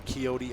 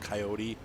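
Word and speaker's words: Kioti: then myanmar and uh is it coyote or kyoti i think it's pronounced coyote it's spelled k-i-o-t-i but i think the play on words is coyote like the way they want you to pronounce it anyway i thought it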